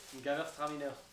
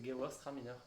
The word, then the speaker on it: Gewürztraminer: j'arriverai pas à le prononcer. Non, répète. Gewürztraminer. Gewürztraminer. Gewürztraminer. Ouais, c'est Gewer Straminer.